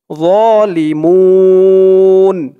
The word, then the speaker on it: ظالمون: উচ্চারণও তেমন নরম হবে অনেকে বলে জোয়া জোয়া বললে কিন্তু উচ্চারণটা ভুল হয় বলতে হবে একদম নরম হবে যালিমুন মুন এখানে 3 আলিফ টান